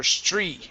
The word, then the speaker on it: street: you're pronouncing it, okay, your lips are going to stay pursed out like this. Str instead of stri. Okay, if you're bringing your lips back in, that's going to make it impossible to pronounce the word. You're going to want to say street.